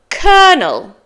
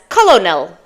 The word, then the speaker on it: colonel: that brilliant word for kernel kernel this word is spelled c o l o n e l it should be read as colonal but it's kernel and Colonel is a